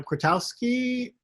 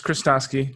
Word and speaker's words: Kristofsky: here from uh kratowski uh krostoski i apologize uh yeah hello can you hear me we can okay cool um so it's kristofsky don't worry it's been mispronounced my entire life um but just uh